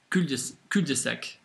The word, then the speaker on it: cul-de-sac: In French, if you pronounced it correctly, it'd be cul-de-sac.